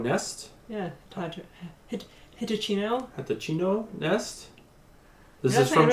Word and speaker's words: Hitachino: Yes, I don't think the T is pronounced. Sing Tao? And then, I think I've seen this one before. Hachito Nest? Yeah, Hitachino.